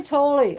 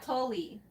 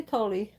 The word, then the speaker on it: Tolle: So yeah, Edgar Tolle. Okay, the power of now. Toll, not Tolly. Yeah, they say Tolle.